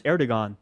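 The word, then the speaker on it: Erdoğan: Maybe Trump should be apologizing to Erdogan for not knowing how to pronounce his name. That would be nice. It's Erdogan.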